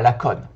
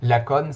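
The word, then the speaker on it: Lacaune: Tout d'abord, Monsieur Bonafé, il est né à Laconne. Alors Laconne, nous on connaît bien parce qu'on est dans le Tarn. Pour ceux qui tomberaient sur cette vidéo et qui ne connaissent pas le Tarn, Laconne, c'est le meilleur endroit au monde.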